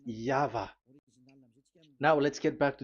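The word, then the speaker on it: Yahweh: It is V. Y H VH. So it is Yava.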